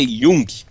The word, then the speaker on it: Jung: Ó, a pronúncia é Jung.